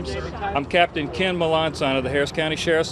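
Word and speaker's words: Melançon: I'm Captain Ken Melanson of the Harris County Sheriff's Office.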